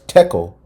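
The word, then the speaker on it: תקל: the ancient Hebrew language, thachal, pronounced as tekel, and basically means you have been weighed on the scales and found deficient.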